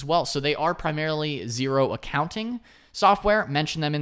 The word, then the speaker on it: Xero: zero now zero uh is pronounced zero but it's spelled x-e-r-o so x-e-r-o kind of